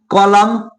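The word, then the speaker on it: column: यानी कि यदि किसी वर्ड में एम के बाद एन आए, तो वहां पे एन का उच्चारण नहीं किया जाता है। तो समझिए जैसे क्या आ गया, ऑटम, कंडम, कॉलम, हिम।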